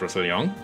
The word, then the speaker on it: Roussillon: And I'm trying to pronounce it in French because it is a French place. It's called Roussillon, I think.